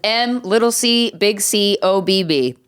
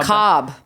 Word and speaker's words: macabre: No, I thought it was MC OBB, like someone's last ass name. Oh, macabre. Macabre. It's macabre.